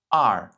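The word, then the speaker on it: 二: prononcer avec le caractère ar ar ar Donc ici 4e ton et ce caractère représente le chiffre 2 en chinois.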